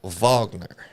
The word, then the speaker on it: Wagner: It's actually pronounced Vagner. Yes. But I go Wagner cuz I'm American.